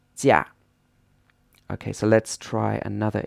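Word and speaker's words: 驾: And this is pronounced jia.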